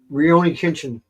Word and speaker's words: Rurouni Kenshin: I'm not even going to begin to pronounce these. Is my favorite. What? How do you say it? Rurouni Kenshin.